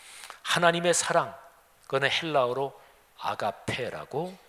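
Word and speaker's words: ἀγάπη: 때문에 잠깐 말씀드리면 하나님의 사랑 그건 힐라 으로 아가페 라고 발음합니다 그런데 여기에 세상에 정육 이 정욕 이란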